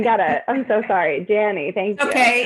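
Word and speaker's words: Janni: throw it to janie maybe j-a-n-n-i yeah janie hey janie danny oh i didn't even get it i'm so sorry danny thank you okay it's not pronounced the way it's spelled so what can i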